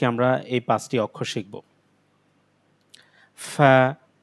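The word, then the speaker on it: ف: ফা ফা ফা of cough cough calf calf calf calf লাম লাম লাম মিম মিম ম মিম ফা ফা এটা আমরা পা পড়বো না ফা এটা অক্ষরটা হলো ফা ফা কফ এই অক্ষরটাও গলার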